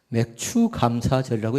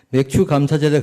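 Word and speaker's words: 맥추감사절: 추자를 발음을 잘해야 돼요. 주인가요? 추인가요? 잘못하면 큰일 날 수 있어요. 맥추 감사절이라고 얘기할 수 있겠습니다. 그러면 맥주 감사절에 그렇게 딱 적어놔야 돼요.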